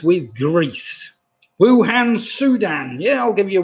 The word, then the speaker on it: Wuhan: city was known as wuhan which kind of almost rhymes with bhutan so wuhan and bhutan was what